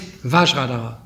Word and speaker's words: Vajradhara: Sanskrit, this mantra is Vajradhara. But the Tibetan, they cannot pronounce V, and they cannot pronounce F, because these two sounds don't exist in Tibetan language. So Vajra became Benza.